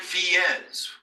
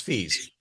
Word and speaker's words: Fies: name pronounced fees and FES which do you use fees it's it's German not Spanish so it's fees that works okay we